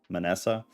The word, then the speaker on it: Manasseh: Manasseh.